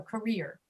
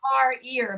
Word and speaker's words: career: No, career. A great career. She had a great career for 40 years. Career. Ear. Career. We don't Career. say car ear because that sounds like your car has an ear.